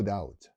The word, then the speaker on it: doubt: no doubt that 好咁總結嚟講呢